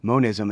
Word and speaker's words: monism: you talking and and mentioning monism and I pronounced it manism I'm finding that as